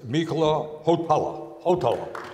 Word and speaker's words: Mikko Hautala: And I am especially delighted, and I want to get the pronunciation right, that we have the ambassador from Finland, and that is Mikko Hautala.